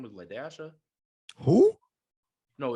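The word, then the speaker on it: La-Dasha: And where her teacher was like Lasha, as you think it is, L-A-S-H-A. And she was like, no, Ladasha. You got to pronounce the dash.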